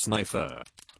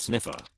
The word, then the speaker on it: Sniffer: wrapped Mr Dick sniffer it's pronounced snifer not sniffer and no I would